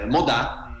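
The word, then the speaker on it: Modàt: Ci abbiamo aggiunto la T, ma insomma che poi si pronuncia sì anche no, rimane Modà, insomma, vabbè.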